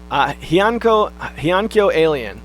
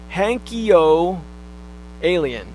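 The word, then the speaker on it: Heiankyo Alien: You mentioned Hyankyo Alien. I actually first heard of that game on the old Nintendo podcast. It's pronounced Hankyo Alien. I'm not sure if that's right or not.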